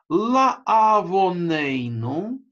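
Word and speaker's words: לַעֲוֺנֵנוּ: Обратите внимание, что это слово читается ла авонейну, да? То есть это не огласовка «о», буква «вав» с вроде бы точкой наверху, да? А буква «вав», у которой огласовка – это только точка, да?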